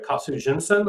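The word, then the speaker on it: 活人剣: In Japan, there's a concept of, if I remember, make sure I get this right, Katsu Jinsen, I believe is the way it's pronounced, the sword that gives life.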